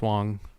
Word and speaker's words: Wang: and I think Michael Wang wait is it Michael Wang's the poker player yes uh I think Michael Jackson plays pickleball too probably a lot of transition it also might be pronounced Wong what yeah wait what